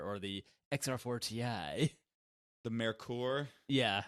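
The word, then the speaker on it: Merkur: I was told by somebody that when I pronounced it Mer- incorrectly. it's Mercur, Mercur, it short was for Mercury.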